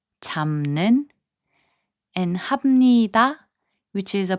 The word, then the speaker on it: 잡는: 잡는, which means catching, is pronounced as 잡는.